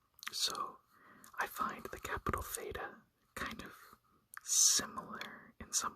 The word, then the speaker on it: Theta: So Theta is pronounced like an aspirated T, as in top. So aspirated is almost like a breathing sound. So ta, ta, ta.